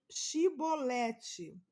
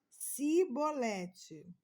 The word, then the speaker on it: chibolete: negasse eles o mandava mandavam dizer chibolete se ele era de Efraim dizia sibolete pois o povo de Efraim não consegue pronunciar essa palavra corretamente então eles o capturavam